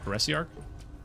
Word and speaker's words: Heresiarch: Did you know that's how it's pronounced? Heresiarch?